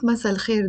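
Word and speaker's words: مساء: but if i break masala down masa notice there is a hamza here which i'm not pronounce it it's silent masa and it means evening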